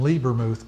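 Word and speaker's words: Lebermuth: We get all of our oils from Liebermuth Company. It's spelled L-E-B-E-R, Muth, M-U-T-H.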